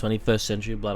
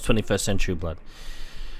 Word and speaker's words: XXI Century Blood: I know you guys say it's pronounced 21st Century Blood, I know.